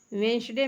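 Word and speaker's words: Wednesday: वेंसडे में भी D silent है।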